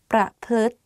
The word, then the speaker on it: ประพฤติ: So the correct way of pronouncing this is ทฤษฎี ประพฤติ behave. ประพฤติ behave. Let's practice again. ประพฤติ ประ and then พฤติ like L sound within the word.